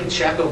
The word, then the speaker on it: Pecheco: whole thing, but it's my family's of Portuguese descent, and they came from the Azores, and that's why we pronounce it differently, but I do answer to Pecheco too.